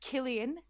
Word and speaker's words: Cillian: his name drum roll cillian lynch the stable hand well i would like to uh tell you that it's pronounced killian and you are correct